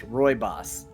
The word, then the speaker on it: Rooibos: It's Rooibos. Rooibos? I guess. All right. They Sure. could have made it easier to spell it that way.